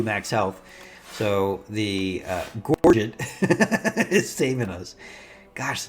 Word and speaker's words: Gorget: The Jorget actually, the Gorget, yeah, the Gorget, still not saying it right, actually does gives us the full block that we otherwise wouldn't have had there.